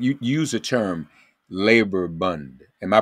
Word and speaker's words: Bund: And that, I may be giving it a Yiddish pronunciation because Yiddish was their language of choice in Eastern Europe.